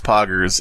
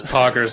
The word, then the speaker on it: poggers: poggers gruggly moat the best way to pronounce poggers if you're charlie cheese is to say paw right like it like an animal's paw and then gersh i don't i've just found